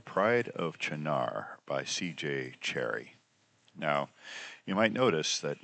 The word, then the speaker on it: Cherryh: And her last name was Cherry without the H. And her editor thought that that was a bad last name for a science fiction writer, so they just added a silent H to the end of it.